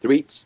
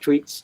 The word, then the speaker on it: Threets: It is pronounced Threats, not Tweets, just like the number.